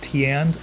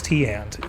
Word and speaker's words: Teande: Now I believe the brand is pronounced Teande, although I'm not totally sure. It's one of those, Amazon brands and companies where there are never any videos where they actually, talk about the product. They just show a little text over top, so you never actually hear anybody pronounce it. But I believe it's Teande.